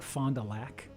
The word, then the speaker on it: Fond du Lac: We pronounce it like Fond du Lac.